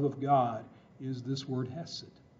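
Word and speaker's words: chesed: This is the word hesed. Sometimes you'll see it spelled in English as C-H. E-S-E-D, the C is silent. But hesed, this is a word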